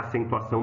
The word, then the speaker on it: acentuação: Só que a acentuação não é paroxítona. Ó, acentuação. A sílaba forte é a última.